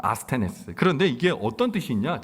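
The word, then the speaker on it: ἀσθενής: 아스테네스라고 발음합니다. 아스테네스.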